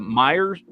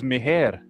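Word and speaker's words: Meijer: When I got here, swear to God, the way it's spelled, I thought it was Meher. I seriously, I had never heard. Like when we moved from Texas to Michigan, like me and my wife both thought that was Meher. It's spelled like Meher, and I was like, oh, that's Quinn.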